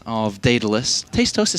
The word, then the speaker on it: Daedalus: Maybe it's an American thing, but Daedalus. Yeah, like dead, like D-E-A-D, Daedalus. I call Isn't it that Daedalus. how you say it? Daedalus, like D-A-E-D, Daedalus.